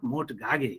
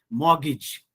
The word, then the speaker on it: mortgage: uh index number 15 one can pronounce it like you know more to gage but it is not more to gagi it is mortgage hmm and so is